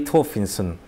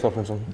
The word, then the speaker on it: Thorfinnsson: Okay, so I've heard this is Bragi Thorfinnsson. Is that? Yeah, it was close enough. It was Bragi close. Thorfinnsson.